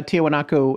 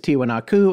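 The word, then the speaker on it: Tiwanaku: today so right and even uh tiahuanaco itself is tiwa naku and tiwanako is the more traditional spelling or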